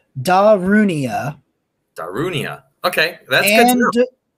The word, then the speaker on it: Darunia: So it is pronounced Darunia.